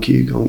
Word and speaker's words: Qigong: No one ever knows how to spell it. It's quite tricky. It's a Q. Qigong. Qigong.